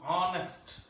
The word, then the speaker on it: honest: H is silent here. So it takes indefinite article. I have an hour. Likewise, HONEST, honest, not honest.